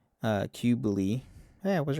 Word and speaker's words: Cybele: So, the name Qubeley is likely derived from the uh, Anatolian goddess uh, Cybele, pronounced roughly like uh, Qubeley.